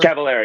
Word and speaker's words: Cavalera: they're like you know I always say their name wrong it's cavalar but I cavala best cavaler cavalera yeah yeah so it's they're